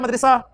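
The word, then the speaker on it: مدرسة: तो मदरसातुल लफ्ज होता है, हम उसे भी पता नहीं क्या मदरसा के पता नहीं क्या क्या बोलते रहते हैं, असल प्रोनाउंसिएशन है जी मदरसा, मदरसा, मदरसातुल बनाती, लड़कियों का मदरसा या लड़कियों का स्कूल, गर्ल्स स्कूल, ठीक है।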